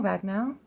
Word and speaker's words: Ragnell: this one is Owen Olen yep Olen um ragnell very simple ragnell oh ranan I always say ranan yep ranan